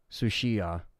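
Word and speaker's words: Tsuchiya: That would just be annoying, because that Jill fight is definitely a Sushiya is how you say her last name.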